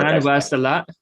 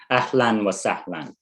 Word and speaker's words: Ahlan wa Sahlan: Just for Ahlan wa salat. Ahlan wa Sahlan. Wa sa'lan. Yeah. Ahlan wa sa'lan textbook. Very good It's pronunciation. Thank you. AHLAN space WA space SAHLAN Ahlan wa Salan textbook.